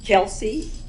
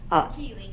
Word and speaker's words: Keely: Our 8th grade students, Olivia Carr, Olivia's here, Kelsey Pfeiffer, am I pronouncing that right? Keely Pfeiffer. Keely Pfeiffer, Selah Smith.